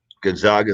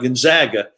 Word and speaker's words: Gonzaga: and we gotta we got to say it right gonzaga they uh they they're a little sensitive about gonzaga instead of gonzaga but uh but yeah